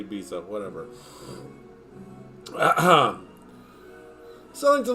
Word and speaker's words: Ibiza: the Mediterranean Paradise of Ibiza or bitha if you say it like the locals but I won't I'm going to say Ibiza whatever uh -huh selling